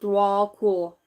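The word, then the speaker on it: Djwhal Khul: make choices from the heart okay it is pronounced dwall cool also known as the Tibetan in the Tibetan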